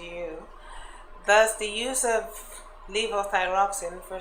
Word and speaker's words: levothyroxine: of, you'll have to help me with this pronunciation, levothyroxine? Levothyroxine.